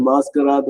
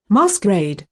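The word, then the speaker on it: masquerade: வந்து நமக்கு நல்லாவே புரியும் இப்ப அதோட உச்சரிப்பும் கேளுங்க பாஸ்கர் இங்க பாருங்க மாஸ்கரேட் மாஸ்கரேட் மாஸ்கரேட் இப்ப நான் மாஸ்கராட்னு சொல்றது பிரெஞ்சு பேசிங்ல சொன்னேன் ஏன்னா பிரெஞ்சு மாஸ்க் ஸ்பெல்லிங்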